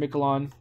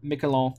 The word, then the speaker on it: Miquelon: pierre and miquelon or Mick alone as I should probably say to pronounce it at least a little bit better so yeah down over